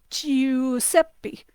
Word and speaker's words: Giuseppe: Similarly, if you take I, the letter I plus U, E, U, and if you go EU, you can hear that also sounds like a letter Y in English, but not really. It's not like U. It's EU, like in the name Giuseppe.